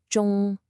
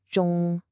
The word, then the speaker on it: 中: It's not the J sound you hear in jungle. Listen again. 中, 中.